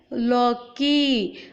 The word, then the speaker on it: लौकी: समझ में आया मेरे बोलने के उच्चारण में? मैंने बोला लौकी।